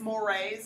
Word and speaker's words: mores: However, this next type, mores, two syllables, if you'll see it, it's spelled like the word more, but it's mores is how you say it.